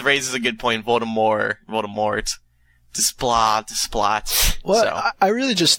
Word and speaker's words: Desplat: So she's saying it's Desplat. I think the S is silence as well, yeah.